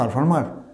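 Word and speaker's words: performer: এর উচ্চারণ কি পারফর্মার? বলো তো কী হবে? Yes, that's the right, you R right. উচ্চারণ হবে পারফর্মার। এই শেষের প্রত্যেক সিলেবেলের পারফর্মার, তিনটে সিলেবেলের শেষের আরগুলো সাইলেন্ট হবে।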